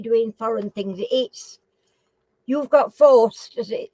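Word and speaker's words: Faust: be, when you're doing foreign things, you've got forced as it's pronounced on that, and it's forced, and it's F-A-U-S-T.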